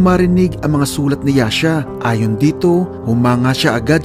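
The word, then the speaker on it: Jascha: Pinupronounce din ito ng iba na Jasha o Jaska, pero Yasha ang gagamitin ko, mga idol, dahil yun yung Danish pronunciation ng pangalan niya.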